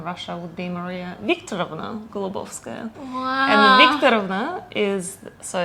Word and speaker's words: Golubovskaya: okay and not many people can just can pronounce it but uh my full name by passport in russia would be maria victor gulobovskaya is so it's a dad's paternal name basically